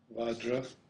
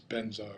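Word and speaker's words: vajra: you'll typically see as vadra but I pronounce it as benzar which is the more of a Tibetan pronunciation and pem you'll see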